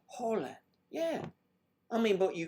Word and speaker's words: Holland: I never realized it, so it's whole land. Whole land? It's not pronounced like that, is it? Whole land. It's Holland.